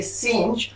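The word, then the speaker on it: singe: S letter को भी हम फ्रेंच में ऐसे ही प्रोनाउंसिएट करते हैं, which means in फ्रेंच हम एस फॉर पढ़ेंगे सेंज, जिसका मतलब होता है मंकी, सेंज फॉर मंकी।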